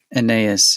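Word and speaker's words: Anaïs: woman the um an anaas anas anaas is how she pronounces it okay I know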